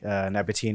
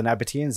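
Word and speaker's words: Nabataeans: you have a good time looking at the Nabatine and Dedanese ruins in Alula. Yes. Thanks for correcting my pronunciation. Oh, yeah. No. There are two of them. They're both. So there's the Nabateans and the Dedanese.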